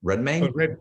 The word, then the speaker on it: Redmayne: such as eddie howard pronounced eddie's last name redman redmayne matthew good hugh